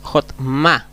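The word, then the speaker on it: חכמה: catan Es decir O la segunda es hotma hotma que significa sabiduría tenemos una consonante una vocal y una consonante Entonces por lo tanto la c es o después tenemos una consonante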